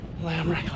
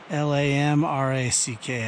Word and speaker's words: Lamarck: Ran into an older gentleman who was coming down with his dog on a day hike, and he pronounced it Lamarck. So Lamarck, I guess, is pronounced Lamarck.